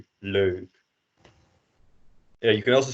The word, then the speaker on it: leuk: And again, the pronunciation of you start at like an and then you go to an u approximately. So leuk.